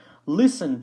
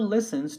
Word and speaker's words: listen: to the next one listen to you know this one just make sure that you don't pronounce the T and we always use